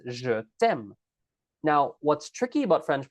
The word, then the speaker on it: je t'aime: Not je te aime, it's je t'aime.